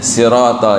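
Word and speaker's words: صراط: Kalau siratal itu kan itu hurufnya shad ya. Kalau shad berarti kan shad. Sir sirat si ya sirat bukan si gitu ya. Ya si sudah agak sedikit monyong. si gitu. Jadi, tapi makmum seolah-olah dengarnya ya betul gitu kan ya. Padahal itu kesalahan hobi namanya. Jadi bias samar antara sin dan shad gitu.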